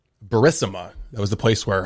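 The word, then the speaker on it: Burisma: And then this one was you pronounced it Barisima. Barisma.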